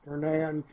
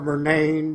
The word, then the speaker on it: Murnane: this I'm sorry I I've been pronouncing your band name all wrong it's vernand it's not verain e is silent right right I'm apolog